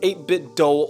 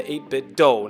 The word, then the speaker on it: 8BitDo: to be reviewing the 8-bit dole ultimate controller and yes i pronounce it as the 8-bit doe not the 8-bit do